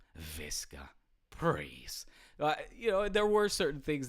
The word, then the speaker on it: Visca: Everybody knows that in Spanish, the la V, the V, is pronounced as a B. Visca.